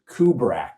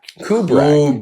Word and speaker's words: Kubrak: It's Kubra. Kubra. Kubra. Kind of like the director, but a little different. Yeah. Kubri. Kubra.